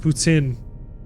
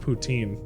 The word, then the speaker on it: Putin: free also fun fact it is pronounced ptin not poutin it's a whole ass